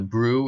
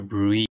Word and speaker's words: BRUE: in EMS education, and that's the topic of the Brue, or sometimes people might pronounce the E and call it a Brue.